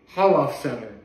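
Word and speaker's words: Holofcener: Nicole Holof Center, that's what it's pronounced.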